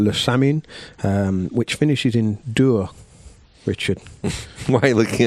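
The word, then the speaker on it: Dour: Dur rhymes with Moore.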